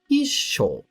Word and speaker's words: 一緒: Cuidado Com a pronúncia já aqui em ISO temos um t logo após a sílaba e indicando uma pausa breve portanto a pronúncia correta é ISO quando ISO está ao